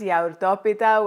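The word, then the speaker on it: γιαουρτόπιτα: yogurt lemon cake in greek it's known as yaurtopita which is basically yogurt pie but it's definitely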